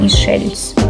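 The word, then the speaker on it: Michel's: в ресторан він називається мішельс Спочатку я вам чесно скажу я подумала що це був натік на мішлен але ні правильно вимовляти мішельс до речі там був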